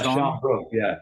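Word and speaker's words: Sian Brooke: Sean Brooke, is that how you pronounce her name? Yeah, Sean Brooke, yeah.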